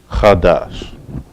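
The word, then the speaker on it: חָדָשׁ: all right and where is two syllables and it's pronounced khadash all right make sure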